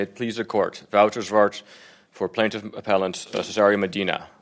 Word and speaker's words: Zwart: Wouter Zwart for plaintiff appellant Cesario Medina. I would like to. How do you pronounce your last name? Zwart? Zwart. Zwart? Yeah, it's Dutch.